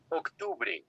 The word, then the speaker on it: octubre: This is the toughest pronunciation, Octubre, because we start like in English, October, and that is not correct.